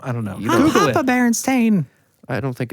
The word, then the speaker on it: Berenstain: So they said Berenstain, and this is the cartoon I remember. And it's even spelled T-A-I-N. That's weird, because I do remember it being Steen.